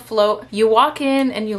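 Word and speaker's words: Flōt: It was called Float, and it's spelled like F-L-O-T with like a line. I don't know what that line is called, but anyways, it's called Float.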